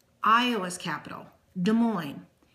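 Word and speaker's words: Des Moines: l iOS is capital De Moine d e s space m o i n e s it's French so you don't pronounce the last letter of the words moving on Missouri Capital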